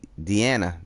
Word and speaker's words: Deanna: think Drago might survive my name is pronounced de Deanna Deanna all right Deanna deian Dean Dean or Deanna I think it's Deanna right Deanna the a you you hear the a right I like